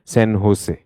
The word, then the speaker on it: San Jose: For them, J doesn't exist. So this they would pronounce as San Jose. For them, this is San Jose.